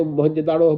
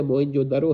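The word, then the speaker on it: موئن جو دڑو: کا کرنا، اور درو اسے موہنجودڑو بول دیتے ہیں، یہ تلفظ تھوڑا ٹھیک نہیں ہے، موہنجودڑو ہے۔ تو موئن جو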